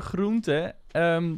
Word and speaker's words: groente: And eet je groente. Groente, vegetables, is spelled G-R-O-E-N-T-E. with a basically a N at the end that is not obligated.